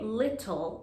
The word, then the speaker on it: little: next word is little in american english the t sound is often said as d so we don't say little like in british english we say little little can you please add